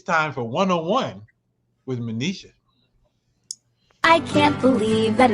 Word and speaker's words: Monisha: Am I saying it correctly, Monisha? it's Manisha.